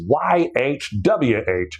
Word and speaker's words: YHWH: God's name is a breath, man. You're not even cool enough to say it. It's YHWH. You say YH the first time you take in air, and you say WH when you exhaust that air.